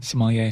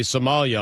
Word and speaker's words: sommelier: I hear it again sommelier the R is silent its French its French huh and finally the Carolina Panthers have a Somalia on staff there's not